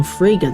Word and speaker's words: Fraga: an argument with William Fraga that rhymes with Sega on the night of